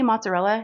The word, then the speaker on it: mozzarella: I'm like, Mom, how do you say mozzarella? And she goes, I don't even know if I can say it like her. Mozzarella. Mozzarella? I'm like, Mom, it's not mun, it's M-O, not M-U.